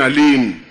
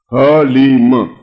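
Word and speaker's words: ह्लीं: इसमें एक अक्षर है जो उसका मूल अक्षर है, उसको कहते हैं हलीम। ये अक्षर बिल्कुल सही उच्चारण होना चाहिए, हलीम, बस।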